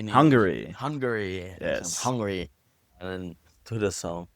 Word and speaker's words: Hungary: And then go to Unarn on how do you say Hungary?